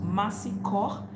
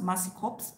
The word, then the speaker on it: Mercy Corps: So I told him in English, it's pronounced Mercy Corps. That's what Kenyan English pronounce it, Mercy Corps. But in French, which is the right pronunciation, it is Mercy Corps.